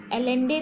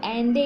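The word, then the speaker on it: Allende: ठीक है, यहाँ पे आपको एलेंडे दिया हुआ है लेकिन आपको एंडे इसको प्रोनाउंसिएट करना है.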